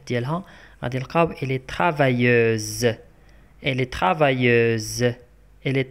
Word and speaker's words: travailleuse: Elle est travailleuse. Elle est travailleuse. Elle est travailleuse. Donc S entre deux voyelles se prononce Z.